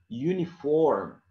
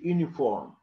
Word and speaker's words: uniform: And we have here the letter U at the beginning of the word is pronounced as U, okay? W or Y-U, U. You say, for example, union, union, okay? Uniform, uniform. For example, in Turkish, you say uniform, but normally it's not like that.